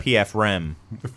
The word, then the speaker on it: Pfriem: It's like PRF or PFR. PFRIEM, I think. The PF Chang offshoot, I think, is what it is. Yeah. PF Rem is how you pronounce Exactly.